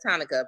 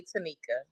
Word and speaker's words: Tanika: I said it looks like Monica with a T, so I get why everybody says Tonica, but it's really Tanika.